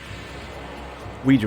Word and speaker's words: Ouija: the actual pronounce you I believe the actual pronunciation is Ouija board because it's it's I think it's French so like you know